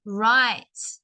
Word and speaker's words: write: we've got this verb right so remember the W is silent right so we've got